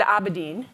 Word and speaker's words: Abedin: So you go to Slido, and it's hashtag, and I've always heard Abedin.